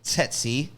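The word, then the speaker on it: tsetse: the set seek fly you sold setsi now that's spelled t-s-e-t-s-e tetsy and they ain't sexy they're not sexy but they are tetsy and you do not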